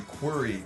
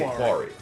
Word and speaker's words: query: But not making fun of his name or anything, but like the way he pronounced quarry. You query the database. Query. Yeah, yeah. Query. So he would say quarry.